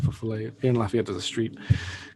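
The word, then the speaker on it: fifolet: Has anyone ever heard of the fofole? Sometimes it's pronounced fifole.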